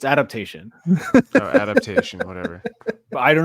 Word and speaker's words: Adaptation: I think I'm going to go with Adaption. Did I say Adaption? Sorry. It's Adaptation.